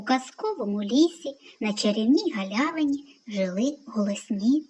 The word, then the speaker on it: ліс: В слові ліс звук ль вимовляється м'яко. Він м'який.